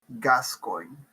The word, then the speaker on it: Gascoigne: And you say it's like, See, I just wanted to point out, Google says it's pronounced Gascoigne. Gascoigne? Gascoigne.